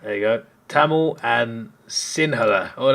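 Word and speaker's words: Sinhala: you go TAMU and Singa or the H just kind of pronounced like a g Singa the country's majority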